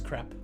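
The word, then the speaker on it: crêpe: death says crepe it's crepe Jody I'm sorry to burst your the French pronunciation is crap I'm sorry to it's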